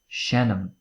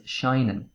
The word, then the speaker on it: seinnim: it to repeat so shenam i play shannon 2 you play can also be pronounced as shinen depending on what dialect you speak but me personally i say shannon shannon shay he plays